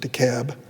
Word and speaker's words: DeKalb: metropolitan atlanta fulton cobb they pronounce it the cab we call it dekalb and gwinnett the new